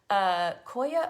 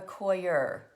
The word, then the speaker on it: coir: Koya or Coir? It's like foyer.